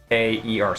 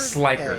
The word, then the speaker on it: Slikeer: When I say slick, his thing is spelled Slikeer, so slicker. I'm sorry. You said Sliaer? Slikeer. I heard Sliker. A instead of K. Sliker? So I was, No, there is no A.